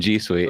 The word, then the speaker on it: G Suite: No, it's a soft G in G Suite.